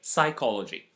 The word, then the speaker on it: psychology: to the letter P we never pronounce the P when it precedes an S at the beginning of a word and the very famous